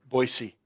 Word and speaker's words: Boise: There's no Z in Boise. Well, how do you say it? It sounds like a Z when you say it. Boise.